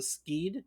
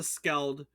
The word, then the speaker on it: Skeld: Is that how you say it, or Skied? Do you know which it is? It's not Skeld. Isn't it an L? Is it Skeld? It might be Skeld. It's Skeld. You're correct.